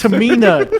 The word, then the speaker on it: Tamina: I was gonna say I would hate just pronouncing that name yeah it already annoys me when you said it twice it's Tamina I mean it's it's painful when you say